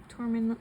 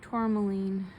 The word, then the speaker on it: tourmaline: my group to my torment tourmaline I think I said tourmaline black tourmaline is how you pronounce this I'm sorry I keep saying it incorrectly hope you enjoyed the